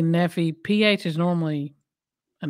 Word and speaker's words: Nephi: you say this name i will be like neffy nephi i say neffy we southern y'all we just say it how we how we see it yeah i say neffy ph is normally an